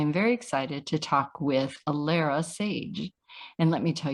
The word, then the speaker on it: Alara: live Nikki thank you so much and it's pronounced Alara Alara very yes thank you so much and as